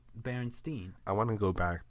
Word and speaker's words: Berenstain: to this but but it's actually spelled like s-t-a-i-n like stain yeah i know it's crazy that's not right at all everyone pronounces it berenstein i want to go